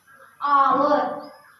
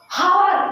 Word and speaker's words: hour: एच को आवर। यहाँ पे जो एच है वो साइलेंट हो जाता है, मतलब इसको हावर नहीं पढ़ता है।